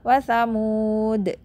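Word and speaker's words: وثمودا: waqaf pun enggak dibaca kalau wakaf misalnya kita wakaf pada watsamud berarti kita bacanya watamud Ya karena alifnya enggak boleh dibaca gitu terus dilanjutin fama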